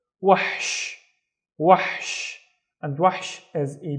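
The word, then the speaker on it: وحش: sha with no vowels as well, so it's wahsh, wahsh, and wahsh is a beast, wahsh. Next one, let's split this into two syllables because we have two vowels.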